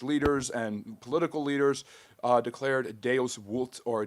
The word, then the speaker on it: Deus vult: The Pope, calling a council of church leaders and political leaders, declared Deus vult, or Deus vult, which means God wills it. V in Latin is actually pronounced as a W, kind of the opposite